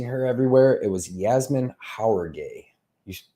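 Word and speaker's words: Jauregui: gonna be a fun one I believe Yasmine jaragui I believe versus uh Estella Nunes who do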